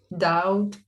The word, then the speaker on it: doubt: because i don't know you just want to pronounce the b but it's it's there but we shouldn't but the other one doubt is for example i